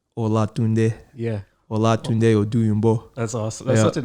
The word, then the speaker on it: Olatunde Oduyingbo: Olatunde Oduyingbo.